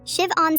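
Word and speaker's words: Siobhan: Shiv-on Smith. Perfect pronunciation.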